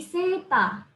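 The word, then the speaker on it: セーター: Kalau kita ngikutin cara pelafalannya sweater ya, sweater. Terus kita tuliskan ke katakananya, sweater, sesuai dengan pronunciation itunya. Itu mungkin nggak akan tersampaikan maknanya apa. Maka diadaptasi sesuai dengan lidahnya orang Jepang. Jadi seta.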